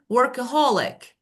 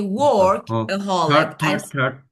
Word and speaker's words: workaholic: No, I don't say work aholic. Yes. And it's a four. No, it's a four syllable word. And listen, work aholic. Okay. So I say workaholic. Workaholic. Holic. So the third syllable.